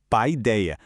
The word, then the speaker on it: paideia: Então vamos entender esse termo principal, paideia. A pronúncia é mais ou menos pai-deia.